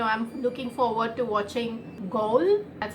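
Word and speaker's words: Ghoul: and you know I'm looking forward to watching goal that's how it's pronounced I hope Radhika take Netflix series its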